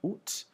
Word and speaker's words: août: So you sort of sound like an owl a little bit when you're saying it, so it's août. You can also pronounce it, you'll also hear the pronunciation août with the final T, août. but it's more of a formal thing.